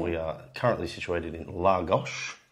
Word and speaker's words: Lagos: We are currently situated in Lagos. Spelled L-A-G-O-S, but pronounced L-A-G-O-S-H, because they like to do that in Portuguese, don't they?